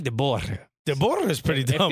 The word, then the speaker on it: De Boer: De Boer. Yeah. So you roll the R.